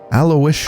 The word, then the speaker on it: Aloysius: Aloysius.